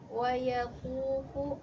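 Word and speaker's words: ويطوف: Tadi harusnya wayakufu. Tadi Ananda bacanya wayutofu.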